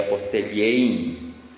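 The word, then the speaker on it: ἀποστέλλειν: Y nuestra palabra española es una transliteración de la palabra griega que se escribe apostellein, con doble L, sería apostellein, y que deriva de lo que sería enviar.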